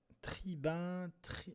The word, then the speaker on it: tribun: Tribun, alors tribun, un tribun c'est UN, d'abord ça se prononce 1, mais 1 et 1, on fait pas forcément trop la différence.